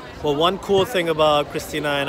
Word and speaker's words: Kristine: Her name is spelled Kristine. K-R-I-S-T-I-N-E. But it's pronounced Kristina.